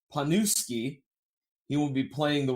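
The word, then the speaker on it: Pniewski: I believe his last name, his name is Mike, but I believe it's pronounced Panuski.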